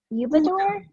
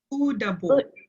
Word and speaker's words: Udabor: Is it Ubador? Udabor. Udabor. Okay, so just like it's spelled.